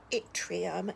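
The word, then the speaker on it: yttrium: name for this is Atrium I think is how you pronounce this but it's with a Y so this is also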